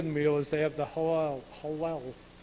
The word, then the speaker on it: Hallel: And so what happens at the end of the meal is they have the halal. It's like saying Louisville. Who knows how to say it, right? The Hallel.